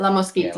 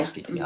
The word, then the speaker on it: La Mosquita: Am I saying it correctly? La Mosquita? La Mosquita. Yeah, La Mosquita. Oh, Mosquita. Okay.